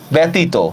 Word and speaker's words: ব্যতীত: যেমন দেখেন এই যে ব্যতীত, কথার কথাই দেখেন ব্যতীত, ব্যতীত দেখেন তো এখানে লাস্টে একটা অ উচ্চারণ আছে না, তাহলে আমরা উচ্চারণ কিভাবে করব, ব কার বে, ব একার বে, ত শিকার তি, ত কার তো।